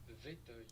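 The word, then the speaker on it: Vétheuil: I'm gonna look up how you pronounce Vetoy. Vetoy. Oh. Vetoy.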